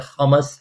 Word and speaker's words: hummus: juice boxes, water, apples, bananas, hummus, she said hummus, the right pronunciation, and crackers, etc.